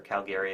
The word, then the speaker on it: Calgary: cuz I'll be in Calgary or Calgary as they pronounce it see yall in a